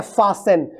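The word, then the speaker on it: fasten: नहीं है याद रखिएगा फास इसको इसलिए पढ़ते कैसे हैं इसको फास एन पढ़ते हैं ये टी नहीं पढ़ा जाता क्या पढ़ते हैं फास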